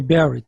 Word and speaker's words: Barrett: metaplásico intestinal característica do esôfago de barrett é o de berry né a pronúncia correta porque é foi descrita por uma austrália esta prega é uma